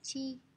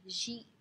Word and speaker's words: 地: Thì với chữ địa thì sẽ có hai cách đọc thôi, thứ nhất là chi và thứ hai là ji.